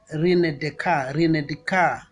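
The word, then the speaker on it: René Descartes: Rene Descartes, written as Rene Descartes, but in French the S is silent, so they talk about Rene Descartes, 1596 to 1650.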